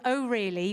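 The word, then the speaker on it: O RLY: They're called Oh Really, which is spelled O_RLLY.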